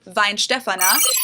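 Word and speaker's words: Weihenstephaner: So the pronunciation is vinefana or if you say it quicker vinefan. So almost like wine but vine. So like if you put um an English v in front. Vine stefana.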